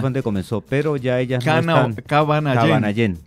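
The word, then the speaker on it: Kavanayén: Originalmente es de Cabanallén, porque allá es donde comenzó, pero ya ellas Cabanallén. Así se pronuncia en Pemón.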